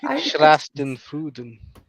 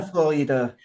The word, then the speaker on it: Schadenfreude: Schlastenfuden. I just Yeah. what did you just say? Adam? Schadenfreude.